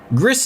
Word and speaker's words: Gris: Gris is on Steam and I believe it's pronounced like Greece because it's a Spanish developer.